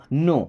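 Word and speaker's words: know: नो। अब इस नो word में के और डब्ल्यू ये दो लेटर साइलेंट होते हैं।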